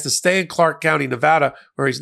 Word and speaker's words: Nevada: things slightly different in Nevada including how they pronounce this the name of the state it's not Nevada it's Nevada but I practice law in